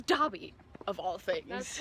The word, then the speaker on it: Dobby: make fun of um dobby because before the show was released everyone thought his name was yeah dabby were like oh my god no and apparently it's dobby of all things that's